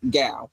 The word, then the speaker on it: Gal: Best, Ross Gal. I said Gal, because it's spelled like cow, but with a G.